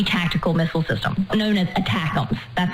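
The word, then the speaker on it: ATACMS: called the army tactical missile system known as attackums that's how it's spelled out with the letters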